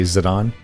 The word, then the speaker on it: Zidane: Fantasy 9 we have zidane as I've always pronounced them some of you might say zidon I don't know zidane as I pronounced It Anyway is a